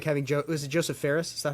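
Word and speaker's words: Josef Fares: little silly thing like having was it Joseph Ferris?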